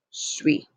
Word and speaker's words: suis: Again, do not pronounce that S. Je suis.